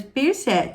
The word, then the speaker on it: Peirce: Aqui a pronúncia diz Charles Peirce, Charles Peirce.